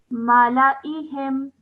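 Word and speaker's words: مَلَإِيهِمْ: You don't pronounce the alif. Well done. So I don't pronounce it, so that's why I pronounce this whole word as malaihim.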